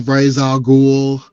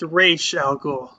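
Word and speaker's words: Ra's al Ghul: um David Warner's on Ral ghoul it's like don't forget stop you right there it's pronounced Ray sh gou not R sorry Raya ghoul and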